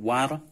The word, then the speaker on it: var: Var yok atau war yok. Dibacanya wawu.